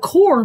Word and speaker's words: corps: army corpse of engineers they call it core but it's spelled corpse they're killing people that's